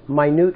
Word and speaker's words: minute: says a minute order but let's say it correctly it's a minute order minute the word minute means small very small right in